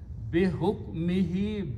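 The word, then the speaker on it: بحكمه: Now Qari will say it's easy to pronounce and recite if I recite this hu as he. There is no grammar there, it's just a recitation. Bi hukmihi, by his command, by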